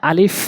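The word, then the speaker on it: ا: আজকে শুরু করি এখানে আলিফ রয়েছে আলিফ আলিফ আলিফটি উচ্চারণ করতে এরকম শব্দ হবে আলিফ আলিফ আলিফ উপরের ঠোঁটগুলো নিচের ঠোঁটে রেখে উপরের দাঁতগুলো নিচের ঠোঁটে রেখে এভাবে আলিফ আলিফ বলতে হবে এরপরে হচ্ছে বা নিচে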